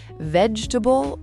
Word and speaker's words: vegetable: Vegetable or vegetable? Vegetable. Again, stress right at the front, and again, that middle syllable gets swallowed.